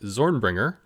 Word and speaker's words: ZornbringerZ: to the balancing act, Zornbringer, with a silent Z at the end.